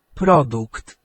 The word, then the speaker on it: produkt: If it sounds like a k, it is a k. and t Okay. So, not only have we got our Polish word for product there, uh but we also know how to say it.